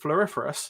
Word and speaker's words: Floriferous: And with those experience, the most recent experience with Floriferous.